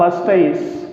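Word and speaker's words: moustache: तो मूंछ को इंग्लिश में क्या कहेंगे, इसका जो प्रोनाउंसिएशन होगा वो होगा भाई साहब मस्टैच, मस्टैच, ध्यान दीजिए इस पे।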